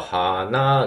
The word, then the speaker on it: 花: 咲いたっていうねフラワーの場合は花がえ引く高引くっていう発音になりますが鼻になんか